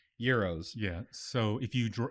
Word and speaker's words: gyros: I if you because I've always called them Gyros until about the last three or four years when I found out that they were actually pronounced Heros yeah so if you draw if you go